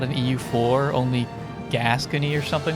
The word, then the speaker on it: Gascony: It is pronounced Gascony.